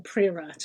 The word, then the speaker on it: Priorat: So I can think particularly of visiting Priorat, or Priorat as it is also spoken.